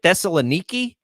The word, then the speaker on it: Thessaloniki: Pronounce it for me again. Thessaloniki.